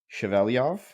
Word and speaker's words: Shevelyov: pleasure of having chaveliov here today um did I say your last name correctly well pronounced Thank You Blake I did my best